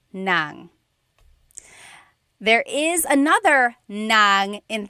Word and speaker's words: ng: And then if you want to add an object the sentence marker here is n g nang.